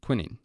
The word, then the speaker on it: quinine: a queen represents quinine i'm intentionally mispronouncing quinine to help you remember it better it's actually called quinning anyways queen nine four